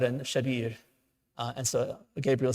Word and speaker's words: Shabir: he says Shabbar and Shabir. That's the Arabic pronunciation of it. They're Hebrew words. Shabbar and Shabir. We put a shadda on it in Urdu and Farsi. It becomes Shabbir.